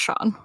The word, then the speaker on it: Schon: Their friend Sean, which is spelled Schon, which is, I've never seen it spelled that way before, but I guess it's pronounced Sean.